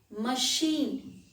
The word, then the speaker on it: machine: as sher charlotte machine machine very common word and here ch again it is pronounced as sure the next word is